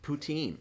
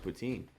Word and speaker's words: poutine: in Bergen County watching us we learned it's pronounced poutine it's not pronounced it is it is pronounced poutine you're I'm not arguing that fact it's pronounced poutine poutine poutine kick and let's change the speed